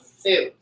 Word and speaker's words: Sioux: It's like SOI or Sioux tribe. Sioux tribe. Yeah, I was like the X. There's no X. Did he talk about at all like his anger towards that title, or at all? The Sioux tribe?